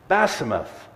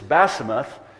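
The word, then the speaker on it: Basemath: naftali he also took basimath basimath was my mom's name by the way in hebrew it's basimouth in arabic it was basima you didn't pronounce the f at the end that was my mom's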